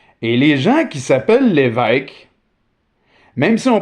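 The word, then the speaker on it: Lévesque: But since the bishop himself has a circumflex accent, well, we pronounce the family name as if it had a circumflex accent also. Donc, les l'évêques, vous m'avez compris. Il y en a beaucoup de l'évêques, vous savez qui vous êtes, c'est merveilleux.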